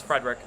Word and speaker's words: Frederic: Smith krachi zaka poster not Coyle Hall Frederick it's spelled wrong but it's Frederick kapon and Felino and Greer grizzlik and McAvoy